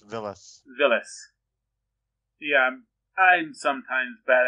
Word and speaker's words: Villes: Well, it's pronounced Villes.